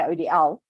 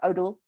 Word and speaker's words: ODeL: Odell so yeah I I say odl um not odle uh so it's it's